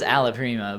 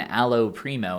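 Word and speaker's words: alla prima: just be like yes well it is Allah Prima but you when you say it you say one aloe primo and two you say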